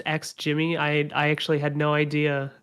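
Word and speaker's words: XGIMI: Yeah, it definitely seems like they're more in like the category of being like so it's pronounced X Jimmy.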